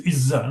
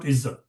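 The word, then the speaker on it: عزة: Actually, it is Izzah, not Izzat. But over time, it has been transliterated as Izzat and Jannat and Salat and Zakat. No. Ta will be only pronounced if it is joined with somebody. Otherwise, pronounced as Ha.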